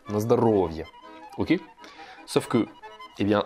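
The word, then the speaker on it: на здоровье: Et donc le O qui est en rouge là, en gras, c'est pour dire que c'est la syllabe sur laquelle vous allez accentuer. Donc vous dites pas comme un Français, il dirait Nazdarovier. Non, non, on dit Nazdarovier. On accentue bien sur le O.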